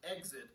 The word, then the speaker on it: XIT: uh under x-i-t so they spelled it they pronounced it exit but they uh began it with the letter x so lincoln street exit